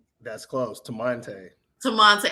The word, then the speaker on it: Temante: Temante. That's close. Temante. Temante. I put too many syllables in there. Yeah. You had an extra syllable.